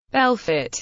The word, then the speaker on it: Belfort: Bell fit French pronunciation BL f is a city in northeastern